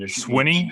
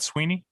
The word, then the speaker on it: Swinney: is actually the correct spelling with one exception swinney swinney not sweeney yeah it is swinney it's sweeney it's pronounced when you play actually in there though